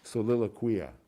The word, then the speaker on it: Soliloquia: I've been around medieval Latin for too long, I can't pronounce it. Soliloquia. I think that did it, right? Yeah, that was the right way.